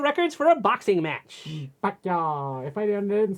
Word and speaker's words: Pacquiao: Pacquiao. If I didn't say it right, because my family loved him, I'd be like, oh, no, it's not Pacquiao, it's Pacquiao, because he's Filipino.